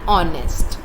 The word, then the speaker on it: honest: Same goes for an honest. H in the beginning of honest is silent.